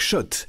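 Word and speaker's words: Schott: gagne sur RMC avec shot la marque iconique new yorkaise depuis 1913 oui shot et pas Scott ça fait des années qu'on prononce mal la marque toute la collection sur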